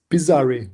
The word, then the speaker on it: Pizzari: It's Pizzari with a final I. Pizzare.